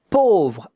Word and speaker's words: pauvre: Pauvre, A-U. These two letters make the sound O, not O. O. Pauvre, pauvre. V-R-E at the end. But the E, you don't hear it.